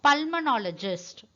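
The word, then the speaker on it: pulmonologist: இது எப்படி நம்ம ப்ரொனவுன்ஸ் பண்ணோம்? பல்மனாலஜிஸ்ட்.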